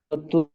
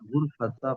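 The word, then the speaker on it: غرفة: গুরফাতা ফাতিমাতাল কাবীরাতু। গুরফাতা কেন? গুরফাতু গুরফাতু গুরফাতু হবে, গুরফাতু।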